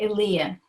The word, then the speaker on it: Illia: Oh, it has everything from on down, but people call me Illia, who know me. Illia, okay. Yeah. Accent on the second syllable, got it.